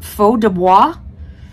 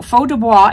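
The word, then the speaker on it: Feu de Bois: separate word b-o-i-s uh I'm assuming it's French so faux Dubois is how I would say it I have no idea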